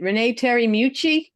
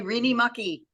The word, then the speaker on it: Renee Terry Mucci: Renee Terry Mucci. And she will be better than what I've been called before. She'll be our last reader. The way it's spelled, sometimes they say Reenie Mucky.